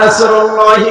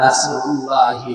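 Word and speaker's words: نصر الله: তো কেউ যদি এখানে সাদ বাদ দিয়ে সিন উচ্চারণ করে, ইযা জা নাসরুল্লাহি ওয়াল ফাত, সাদ মুখ গোল হয়ে উচ্চারণ হয়।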